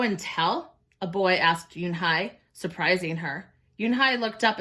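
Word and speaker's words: Unhei: Ooh, nay? The girl asked, scrunching up her face. Ooh, nay, some kids chanted. No, Yoon-hae corrected. It's spelled U-N-H-E-I. It's pronounced Yoon-hae. Oh, it's you-hey, the boy said.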